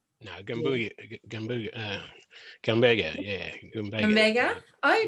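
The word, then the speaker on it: Gumbaynggirr: If you'd care to elaborate on that, I'm going to try and pronounce may I try being a proud Yagal, Yeah. Bunjalung, Yes. Gambenga, No, Gambuga. Gumbaga.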